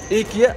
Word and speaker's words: IKEA: إيكيا أو مثل ما الاسم النطق الصحيح إيكيا. والله أسف تقول إيكيا. بس إحنا نقول إيكيا إيكيا.